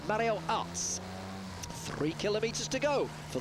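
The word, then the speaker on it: Aerts: me the day thank you Danny it's actually us they pronounce it in uh in Holland and Belgium they pronounce it us so I've learned something from Danny there I'm always willing to learn it's Mario us three kilometers to go for the two leaders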